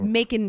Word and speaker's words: Macon: come on what's making it's making georgia 100 100 100 making 100 bacon like bacon it's spelled just like bacon but with an m yep okay well uh